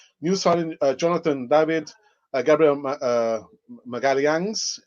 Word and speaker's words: Magalhães: signing Jonathan David, Gabriel Magalhães. That is the correct pronunciation. I've got a Brazilian friend of mine. She told me this is the pronunciation, Gabriel Magalhães.